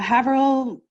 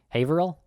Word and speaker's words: Haverhill: before said um uh haverill is that how you say it haverill haverhill haverhill thanks canadian accent that's okay um police